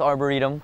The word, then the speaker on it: arboretum: Đợi tí M: Arboretum? *phát âm sai* (=vườn thực vật) M: Arboretum.